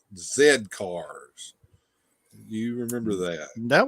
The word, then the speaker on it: Z Cars: at the at the title they would think Z cars no it's pronounced Zed cars right that's like palatoy's action force had a